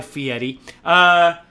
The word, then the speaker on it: Fieri: You think Guy Fieri, that's right, I said it right, Guy Fieri, prepares his own food?